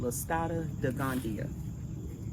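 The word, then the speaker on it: Listada de Gandia: And I I think on a previous video I said the name wrong and my daughter was like, "Mommy, what did you just call that eggplant?" It's called Lascada de Gandia.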